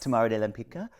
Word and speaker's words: Tamara de Lempicka: Tamara de Lempicka.